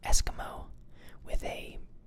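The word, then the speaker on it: Eskimeaux: They used to be called Eskimo, it's like spelled like the French, with a E-U-A-X, or E-A-U-X.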